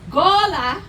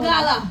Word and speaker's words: Gullah: So I want y'all to pronounce it after me. Angola. Angola. Gola. Gola. Gullah. Gola. Now, what sound better, Gola or Gala? Gola.